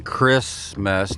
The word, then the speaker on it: Christmas: Just like in Christmas, nobody pronounces the T because it's Antichrist as well, okay?